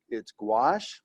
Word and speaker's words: gouache: I've always learned that it's gouache, I think it's a French word, but gouache is basically when you thin out your paint with water.